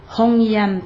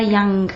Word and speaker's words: Hongyan: Hongyan, pas Yang, ça n'a pas G à la fin.